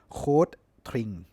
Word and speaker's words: Rotring: dchl หรือ ภาษา เยอรมัน จริง ๆ ก็ คือ cde tring นะ ครับ coe ก็ คือ rot R เนี่ย